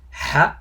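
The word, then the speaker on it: حاء: It's like H-A, Ha, but under it. Ha, Ha, Ha. Try to pronounce it. But there's no letter that equivalent to it in English.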